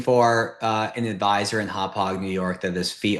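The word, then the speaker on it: Hauppauge: Um, and then the other search that I did in anticipation of this was just um cuz the office is in uh Hop Hog uh New York, right, on on Long Island.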